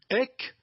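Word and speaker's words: ἐκ: Elle se prononce en grec EC.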